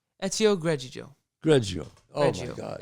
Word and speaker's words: Greggio: Ezio Greggio. Greggio. Oh, Greggio. my God. Ezio Greggio. Funny. Can't pronounce that.